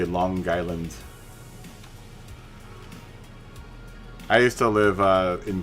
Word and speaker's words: Long Island: And when you say Long Island, you have to say Long Island. You have to pronounce the G as part of the island part. So you say Long Island.